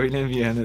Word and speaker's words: William Viana: Eu tô pronunciando o seu nome certo, cara? É o William Ah, Viana mesmo? isso, é o William Viana, assim.